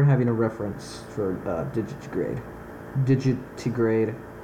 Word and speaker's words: digitigrade: a reference for digitigrade did you to grade is how you say it there it is found